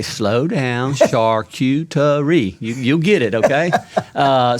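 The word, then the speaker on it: charcuterie: first of all you've got to help people pronounce it correct because they tear it up and i say slow down shark you to re you'll get it okay uh so i mean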